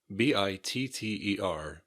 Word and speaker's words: bitter: Bitter, B-I-T-T-E-R, bitter. Compare this with the word bitter with a D. B-I-D-D-E-R, bitter. B-I-T-T-E-R, bitter. But we usually don't pronounce the T really hard.